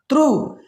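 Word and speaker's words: through: एच आया है तो हमने क्या कर दिया, साइलेंट कर दिया। थ्रू, यू के बाद जी एच आया है तो साइलेंट कर दिया।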